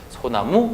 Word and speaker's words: 소나무: 소나무 역시 마찬가지입니다. 솔 플러스 나무로 되어 있죠. 그렇기 때문에 니은으로 시작한 말 앞에 리을이 왔기 때문에 물론 합성어이고요. 리을이 사라져버리고 소나무 이런 식으로 발음이 된다는 겁니다.